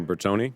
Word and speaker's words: Bertoni: Bertoni, is that correct? Bertoni is the correct pronunciation?